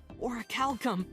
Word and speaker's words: orichalcum: There's bronze, silver, gold, platinum, and at the very top, orichalcum. That's how you pronounce So it.